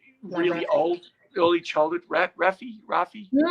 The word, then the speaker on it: Raffi: Raffi.